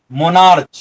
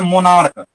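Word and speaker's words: monarch: दें, क्या बोल दें, उच्चारण च बोल दें, मोनार्च, अष्टमच, आर्च, ऐसा नहीं होता। कहते हैं इस सब का प्रोनाउंसिएशन क्या हो जाता है, इसका हो जाता है मोनार्क, इसका हो जाता है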